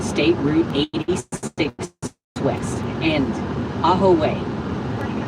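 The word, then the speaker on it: Ajo: It's not A-ho, it's Aaho.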